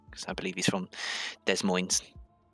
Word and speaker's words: Des Moines: Because I believe he's from Des Moines. Des Moines. Des Moines. Des Moines. Neither S is pronounced.